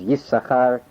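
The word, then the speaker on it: Yissachar: Genesis 30, verse 18, he rules that, as Ramah, that the correct pronunciation is Yisachar, number 1.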